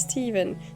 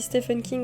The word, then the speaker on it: Stephen: Yeah, his name is Steven. Donc, Stephen en français se prononce Steven en anglais, pour info. Stephen King, par exemple, l'auteur à succès. Tout le monde dit Stephen King en français, mais en fait, son prénom se prononce Steven.